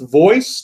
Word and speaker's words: Voez: It's pronounced voice, turquoise. Voez is pronounced voice, V-O-E-Z.